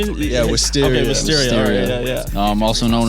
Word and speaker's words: Wisteria: Yeah, Wisteria.